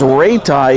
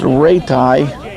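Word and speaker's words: Raiti: His name is Ratai. He spells it R-A-I-T-I. But pronounced Ratai.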